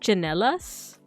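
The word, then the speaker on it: tsinelas: But yeah, so this one's interesting because there are words with the ch sound, but they're spelled with a TS. So we have a word chinelas.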